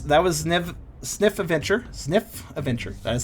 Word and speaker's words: Zniw: enjoyed that was that was nev sniff adventure sniff adventure that is how you say it um